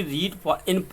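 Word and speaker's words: read: First है some books are टू बी रीड in parts, यहाँ पर इन भी लिख लेंगे।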